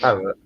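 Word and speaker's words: Perraud: I think the D is silent. He's French. Parrot.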